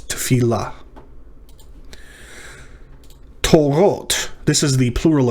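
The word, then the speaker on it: תפילה: So t, fil la, three syllables. Tefillah.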